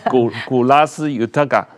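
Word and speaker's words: Kolas Yotaka: 古拉斯尤塔嘎。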